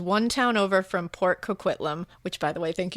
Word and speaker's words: Coquitlam: That's also fun to say, Coquitlam. And then she said, "You pronounced it correctly, and that gives me so much joy.